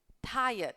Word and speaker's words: tired: ข้อ A เหนื่อย Tired คำ นี้ ออก เสียง ว่า tired ตัว r มัน อยู่ หลัง ตัว i เรา ไม่ พูด ว่า try นะ แล้ว เรา ก็ ไม่ พูด ว่า เรด นะ จ๊ะ ti เยด tired อือฮึ แปล ว่า เหนื่อย Angry